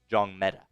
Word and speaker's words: Njongmeta: Bricktop says the N is silent. Yes, Maema Njongmeta. That N up front is silent.